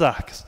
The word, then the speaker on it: árqueas: escrevendo aqui no nosso contexto do português mesmo, árqueas, porque você pode achar também escrita, né? Lá, em alguns livros vão aparecer com CH, árcheas, mas a pronúncia correta que nós utilizamos é essa, das árqueas, tá bom?